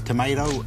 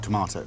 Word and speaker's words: tomato: Jared Le correct next category words that are pronounced differently in British and American accents I'd love to hear the accents G Frans tomato and tomato correct G lieutenants and left tenants correct